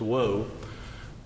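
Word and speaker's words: Oahou: One was Dr. Woe, spelled O-A-H-O-U, but pronounced Woe, and the other one was Dr.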